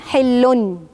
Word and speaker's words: حلٌ: في النطق قدام شويه نتكلم عن موضوع بتكتب ولا ايه وضعها، لكن احنا قدامنا هنا ان في نون حلن، يبقى هنا نون ورا النون باء.